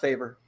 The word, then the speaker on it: Favre: would rather date brett favre oh she's trying to answer the movie question got it uh it's pronounced favor oh i got one